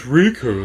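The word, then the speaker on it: Rikku: And what's worse is like it's the Riku really, because there's Riku here with 2 Ks and there's Riku in Kingdom Hearts with 1 K. Pronounced exactly the same.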